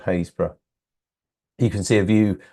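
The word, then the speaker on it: Happisburgh: Lighthouse called hayra Lighthouse although it's spelled ha a p p i s b u r g HB happurg is yeah is what it's it's how it's spelled but it's actually called hazb you can see a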